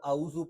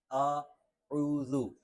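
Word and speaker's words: أعوذ: باللہ من الشیطان الرجیم۔ اس کو اعوذ پڑھنا یہ درست نہیں ہے، اعوذ اعوذ باللہ من الشیطان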